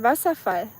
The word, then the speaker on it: Wasserfall: Wasserfall.